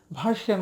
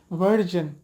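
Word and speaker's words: version: আর যার কারণে এর শুদ্ধ উচ্চারণটা হবে ভার্জন। এসের পরে আই থাকলে যা, এই যা উচ্চারণটা বাংলা বর্ণতেও নাই, এটা হচ্ছে আরবিতে আছে, র দাল জাল র যা, ভার্জন।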